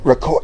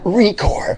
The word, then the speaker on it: Recor: right d record is it Rec it's recor yeah recore okay you do dude